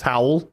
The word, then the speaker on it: HWL: HWL, although it's pronounced as howl.